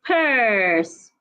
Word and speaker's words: purse: pencil another example is purse it's not P say purse I can't find my purse the vowel that you have in the word purse is a long vowel so take your time